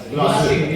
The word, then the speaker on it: Glacir: Okay, we now move to the next chapter of Ardent's portfolio, the unveiling of gin soak and Glacir. Is that how you say it? Glacir.